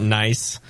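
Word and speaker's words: gneiss: so we call it nice oldest rock in Ireland happens to look a lot like Guinness happens to taste a lot like Guinness it's like g n i SSC pronounced nice I love it I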